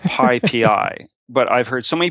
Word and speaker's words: PyPI: The Python package index, the abbreviation is PYPI. And it's pronounced PyPI, but I've heard so many people call it PyPy, Pippy, Pipey, PP.